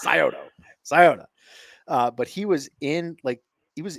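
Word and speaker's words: Scioto: it it's chiley and it's the scota river not the sioto okay everyone says Coto if you don't live in Ohio say Coto it's scoto scota uh but he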